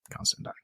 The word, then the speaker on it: Constantine: Like, it rhymes with turpentine. Constantine.